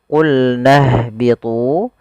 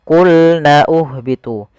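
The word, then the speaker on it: قُلْنَا اهْبِطُوا: Di sini kita langsung ke huruf ha yang disukunkan. Jangan sampai kita membacanya qulna uhbitu. Pada lafal ini, ini tidak dibaca qulna uhbitu.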